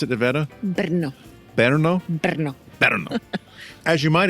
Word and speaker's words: Brno: We'll talk today about the Farnsworth House and we'll talk also today about the Villa Tugenhhat in how do you pronounce it? Bernno Berno Berno Berno as you might expect as with all modernist houses um they require a lot of maintenance.